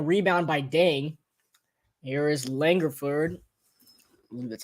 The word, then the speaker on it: Langford: short in a rebound by dang here is langerford that's how you say it and gives it